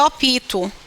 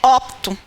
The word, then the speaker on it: opto: As pessoas, elas tendem a dizer opito. E não é opito. É opto. Repare que quando a gente pronunciar adequadamente esse termo, esse P aqui quase que não sai. Ele quase que é sugado pela vogal anterior.